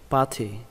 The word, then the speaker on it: party: Cách đọc tiếp theo của người Mỹ, các bạn đọc âm T này thành âm D. Party, party, party.